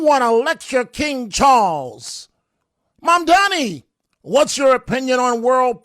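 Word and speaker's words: Mamdani: The name is Mom Donnie. M-A-M-D-A-N-I. The name is Mom Donnie. M-A-M-D-A-N-I. You should learn how to say it.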